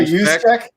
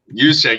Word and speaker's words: Juszczyk: How do you pronounce this? Juszczyk? How do you say it again? Oh, Kyle Juszczyk? Juszczyk, yeah, the GOAT, the second best behind Ham, from the Vikings.